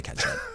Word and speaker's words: catsup: I think they spell it that way, and then they say it differently. Wait a minute. So catsup is the correct spelling for that? It's the correct spelling of ketchup? No. You can spell it CATSUP, but people don't say ketchup. Yeah, no. They say ketchup.